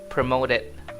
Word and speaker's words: promoted: Dan untuk pronunciation-nya sendiri di sini di American English mereka bilangnya promoded. T-nya ini jadi seolah-olah huruf D gitu, Guys.